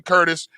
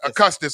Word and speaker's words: Custis: got my man uh elton curtis uh custis i'm sorry yes custis i know right that